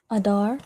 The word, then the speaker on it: Adar: Adar. Pronounced the exact same way, Adar, right?